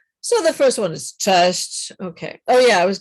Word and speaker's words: cześć: I think Pan Franek had a problem with the word cześć. Cześć. You have to pronounce all the S with the little kreska and the C with the kreska.